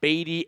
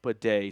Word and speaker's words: Badie: which is Tyler pedet and yeah it's not batty anymore it was at one point and Andrew Mason shared a picture of the pronunciation guide from week two which clearly says